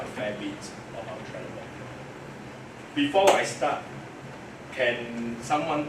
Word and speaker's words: Trelleborg: It's actually Trelleborg. So the G they call it E. Trelleborg.